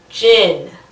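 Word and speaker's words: Djinn: the main one is called gin with a silent d now if anybody out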